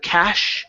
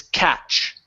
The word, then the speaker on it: catch: this is GNA be catch with a CH instead of cash it's catch catch there you go C